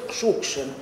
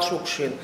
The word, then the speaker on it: Шукшин: на фамилию отца, и фамилия у нас произносилась Шукшин, с ударением на первое слово. И только потом уже в Москве, когда стал публиковаться, сниматься в фильмах, вот там Москва поправляет ударение, он стал Шукшин.